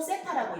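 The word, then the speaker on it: θ: OP를 동경이라고 할 때 이 OP와 10초선이 이루는 각을 세타라고 한다면 우리 이렇게 쓰고 세타라고 읽어요. 세타라고 한다면 이때 이 세타에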